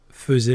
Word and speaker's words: faisait: On le prononce faisait, mais il s'écrit faisait.